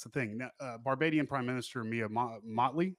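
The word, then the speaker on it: Mia Mottley: thing Barbadian prime minister Mia Motley I believe is how it's pronounced is considered an ally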